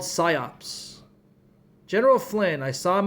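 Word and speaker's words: PSYOP: in Army SCOP recruitment, SCOP is spelled P S YOP P.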